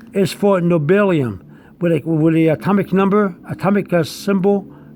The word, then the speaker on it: nobelium: Nobelium is spelled capital N-O-B-E-L-I-U-M. Nobelium, like Nobel Prize, nobelium.